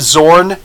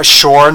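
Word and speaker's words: Xorn: we know that, and if you know the history of Zorn, then you know Shorn, however you're going to pronounce his name. It should, I guess, be Short if you're looking at it from an actual Chinese linguistic mindset, but I think we all pronounce it Zorn in the West, right?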